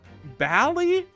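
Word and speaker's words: Bali: It rhymes with Sally? Bally? It's pronounced... It's Bally? That's crazy.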